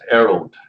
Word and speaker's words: Erald: So how do you pronounce your name, by the way? It's Erald.